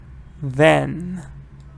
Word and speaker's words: then: yes good fire bites then it's not D it's th the the then then th good right honey then